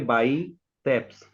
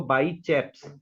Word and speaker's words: biceps: इसको अगर हम पढ़ेंगे, इसको पढ़ेंगे बाइसेप्स, आधा प और स, ऐसे करके। और जबकि सारे ज्यादातर दिल्ली के लोग क्या बोलते हैं इसको, बाई चैप्स। तो बाई चैप्स बोल रहे हैं क्योंकि उनको स्पेलिंग ही नहीं पता है कि इसका नाम क्या है।